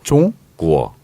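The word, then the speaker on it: 中国: 중으로 안 나고 종, 종? 구어. 종구어. 종 발음 있잖아요. 받침 종구어. 있잖아요. 종구어. 이응 받침이 아니에요.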